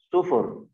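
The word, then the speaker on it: صفر: Nah, ada bilangan sebelum 1, 0, itu bahasa Arabnya sufur. Sufur. Sifar, sufur bacanya. Tulisannya short faro, nanti saya tulis sifar. Bahasa amiyahnya dibaca sufur.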